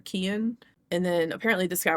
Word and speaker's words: Cian: It's Cian, but what I looked up said like Keen or Kian.